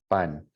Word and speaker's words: pan: Now, the way it should be pronounced in Spanish, obviously pan and pan are different words, but pan, pan, you should feel little to no air when you say pan in español, pan.